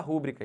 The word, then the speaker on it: rubrica: aqui rubrica botar sua rubrica aí não não pode isso não é proparox isso é paroxítona é rubrica sempre tá bom olhem para